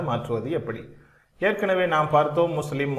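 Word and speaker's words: مسلمة: எனவே இந்த வார்த்தைகளை உச்சரிக்கின்ற பொழுது முஸ்லிமத்துன் என்று சொல்ல மாட்டோம், முஸ்லிமா. முஃமினத்துன் அல்ல, முஃமினா, சாலிஹா என்பதை போல.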